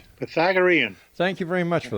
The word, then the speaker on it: Pythagorean: Pythagorean.